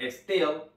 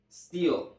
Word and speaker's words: steel: en inglés se escribe así y no se pronuncia stel se pronuncia steel steel steel muy bien Ahora vamos a pronunciar esta